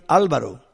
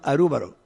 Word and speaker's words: Álvaro: Usted puede llamar a mí Álvaro, pero en Japón me llaman Arúbaro. Es mi nombre. En el Canadá los jóvenes me decían Albero. La pronunciación varía un poco, pero el nombre esencial mío es Álvaro.